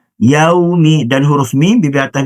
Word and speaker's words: يَوْمِ: Maka cara bacanya adalah yaumi yaumi dan huruf mim.